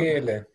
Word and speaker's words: Michele: Do you pronounce Michele or Michele? Or... Michele. Michele is the correct way.